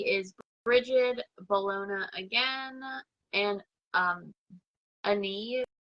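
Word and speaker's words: Áine: The deity is Brigid, Bellona again, and Ani. It's spelled A-I-N-E.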